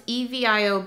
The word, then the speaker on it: Evio: It's Evio Beauty Rejuvenating Mask.